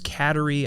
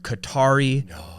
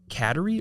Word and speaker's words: Kateri: And it's spelled Kateri. So I didn't know if it was Kateri. I assumed Kat for short. Yeah. Well, the whole night, the officiant was calling her Katari. Like the Atari.